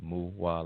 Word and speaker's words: Muwa: that's muwah that's uh it's spelled m-u-w-a but it's pronounced muah like uh how a cow goes moo right so and uh